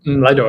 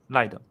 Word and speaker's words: Lido: Lido, actually. Lido.